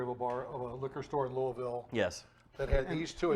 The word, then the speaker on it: Louisville: moonshine going to Louisville.